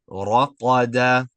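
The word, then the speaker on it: رقد: Just pay attention to the length of your vowels, right? So try to keep them all the same. A. Raqada, raqada, right?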